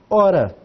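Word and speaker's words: ὥρα: Começo com, aqui tem um acento áspero, estão vendo? Tem um acento áspero e o acento agudo. O espírito áspero e o acento agudo. Então nós começamos com H, um O, um Rho e um alfa.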